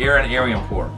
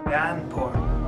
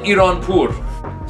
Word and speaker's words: Aryanpur: Americans say Aaron Aryanpur. Wrong. Wrong. R. Aryanpur. Pur. Or at the end it goes up a little bit for exotic people. Aryanpur.